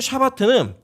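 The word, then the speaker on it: שבת: 이 안식이라는 단어는 히브리어는 샤밧이라고 하는 단어이고 샤바트라고도 발음하는데 원래 제자리로 돌아가다라고 하는 의미가 있습니다. 그래서 이 히브리어 샤바트는 일을 중지하다, 행동을 멈추다,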